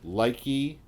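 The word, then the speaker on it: Lieke: Leike, because I-E is that's an I sound. Listen, in German.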